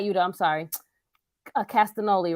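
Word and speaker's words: Castagnoli: Moxley Yuda no not Yuda I'm sorry a castanoli right that's how you say it um and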